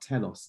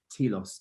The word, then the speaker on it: telos: the position of what our telos is or our t loss depending on your pronunciation of greek philosophy and our telos is